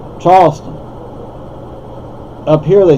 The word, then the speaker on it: Charleston: expect but it's like Charleston up here they say Charles Town well that's not how you say it you see Charles spelled the same way just pronounced differently Charleston Charleston up Charles